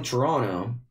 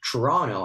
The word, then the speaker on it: Toronto: Greetings from Toronto. I had to, there's a bunch of cities in North America that I, usually pronounce it in a way, and they correct me, like, no, you should say Toronto and not Toronto, as an Italian would say,